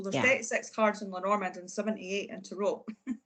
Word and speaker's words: Lenormand: Lenormand cards.